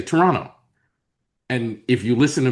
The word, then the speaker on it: Toronto: you realize that like they don't say Toronto, they say Toronto.